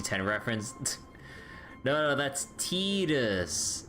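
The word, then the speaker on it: Tidus: tittis but I mean that's how it's pronounced in Japanese with how they with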